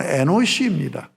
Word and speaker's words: 에노스: 여기서 셋도 아들을 낳고 그 이름을 지었는데 에노스라고 지었어요. 원래 히브리 발음은 에노시입니다.